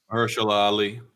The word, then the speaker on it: Mahershala Ali: the internet, it was rumored that how you pronounce the name? Mahershala Ali? Yes. Mahershala Ali.